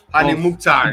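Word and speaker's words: Hany Mukhtar: How do I pronounce it? Hani Mukhtar.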